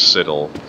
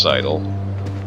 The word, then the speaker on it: sidle: sidle but i always referred to it as Sidel in fact I only just now just recently learned that it actually is pronounced sidle all right that looks like word I'll never